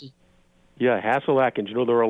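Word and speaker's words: Hasil Adkins: is it hassel Atkins is that how you pronounce it yeah hassel Atkins you know there are a lot of records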